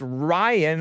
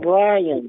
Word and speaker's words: Brian: So we've been thinking that your name is Ryan, R-Y-A-N. Brian from New Orleans. But it's Brian. Brian, B-R-I-A-N. Yeah, that's how you say it.